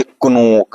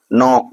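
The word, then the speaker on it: knock: रहे हैं एक और के एन ओ सी के इसको क्या पढ़ेंगे इसको पढ़ेंगे कनक क्या कनक सही होगा नहीं इसको क्या पढ़ेंगे नॉक पढ़ेंगे ठीक है क्या पढ़ेंगे नॉक देखो के को साइलेंट रखेंगे क्योंकि के क्या है हमारा एन के पहले आया तो इसको क्या पढ़ेंगे एनओसी के न ठीक है नौक पढ़ा जाएगा इसको नेक्स्ट ठीक है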